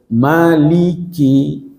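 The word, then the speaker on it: مَلِكِ: Tapi kalau di sini tidak bisa panjangkan, dia harus pendek. Pilihan di sini cuma satu. Ya kan? Jadi bacanya itu maliki, maliki.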